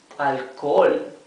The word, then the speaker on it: alcohol: Alcohol. For alcohol. Here also the H has one function. The H is completely mute, but it indicates that these O's should be pronounced, both of them, right?